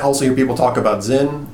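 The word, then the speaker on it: Sinn: You might also hear people talk about Zinn. It looks like Sin, it's S-I-N-N, but it's pronounced Zinn.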